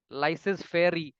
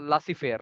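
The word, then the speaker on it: laissez-faire: इसके लिए एक फ्रेंच टर्म है, लासी फेयर बोलते हैं इसको, स्पेलिंग देख के लग रहा है कि लाइसेज, लाइसेज फेयर but pronunciation लासी फेयर, लासी फेयर मतलब मार्केट व्यवस्था, मार्केट डिसाइड करेगी और गवर्नमेंट या अथॉरिटीज उसमें इंटरवीन नहीं करेंगी।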